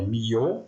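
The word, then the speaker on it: Millau: o viaduto eh de milau né na França em francês seria mi a pronúncia correta né esse viaduto ele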